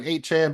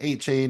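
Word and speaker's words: Achane: It's actually Devin 8chan, but we like to say an 8 chain. It rhymes a little bit with train.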